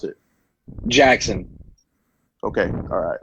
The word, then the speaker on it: Jaxon: do you pronounce it Jackson okay alright it's pretty it's pronounced just like the way it's spelled J I say it